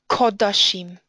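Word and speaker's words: קדשים: Kametz chatuf derives from a U sound. So this word is kodashim or shorashim from kodesh or shoresh.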